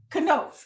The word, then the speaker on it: Knoth: first one is how do you pronounce your last name uh it's know okay i wanted to